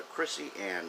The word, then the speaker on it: Chrissy Ann: about tonight is the Chrissy Ann Show. It is spelled Krisi, capital A-N-N. Chrissy Ann Show.